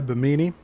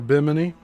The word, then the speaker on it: Bimini: Heading toward nearby Bimini or Biminy. I think the pronunciation's biminy.